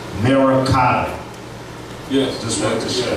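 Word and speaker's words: मरकत: And in Sanskrit, emerald is pronounced Merakata.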